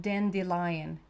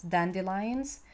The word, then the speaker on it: dandelion: i got beautiful beautiful comments saying uh it's pronounced dendi lion is actually what i think it's being pronounced as dandelions uh we have those in sweden as well